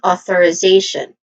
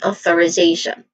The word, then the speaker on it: authorization: Pronunciation wise, authorization, it starts with O, short O sound, and then th which uses a voiceless th sound and awa sound at the end. And then reay ray which has a dip thong sound a and then another dip thong sound for the fourth syllable fourth syllable z authoriz z a also the dip thong sound and then t i o n. So this is authorization again authorization.